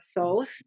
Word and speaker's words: Thoth: years 21 years ago um a guy named Thoth or Thoth as some people pronounce it uh he came to me um